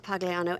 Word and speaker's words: Pagliano: full name Pagano thank you Mr Pagano am I pronouncing that correctly uhhuh okay thank you have